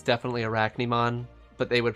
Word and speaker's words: Arachne: example like it's definitely arachne mon but they would pronounce arachne in japan as aru kenny so it makes sense